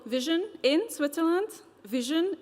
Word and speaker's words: VSHN: Vision is spelled as VSHN, but it's intended to be pronounced as what your eyes do.